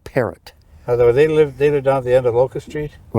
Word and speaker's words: Parrott: How do you say that? Perot? They called it Parrott.